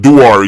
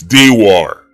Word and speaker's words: Dewar: My name is not Duar, it's Dewar.